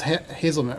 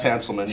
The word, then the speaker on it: Hanselman: Now the guy in the middle is Hazelman, or how do you say his name? That's Hanselman.